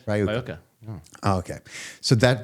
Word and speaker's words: RyoKah: name of the entity, as far as and pronounce, is Rioka, right? No. Yeah, that's right. Rioka.